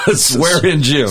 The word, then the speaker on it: Swaringim: answer answer was was like cussing NP class swear in gym right SAR in gym yeah so people want